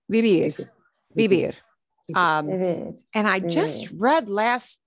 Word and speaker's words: vivir: That has the B pronunciation, correct? Vivir. Always? Okay. Vivir. Yeah. Want to make sure I heard you correctly. B will always sound not like a V.